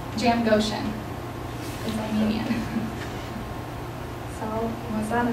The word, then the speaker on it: Jamgochian: Jam Goshen is Armenian.